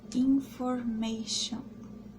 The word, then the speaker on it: information: que eu coloquei aqui, information. Information, se a gente pode ver, tem um T, mas na hora de pronunciar o T fica como se fosse um X.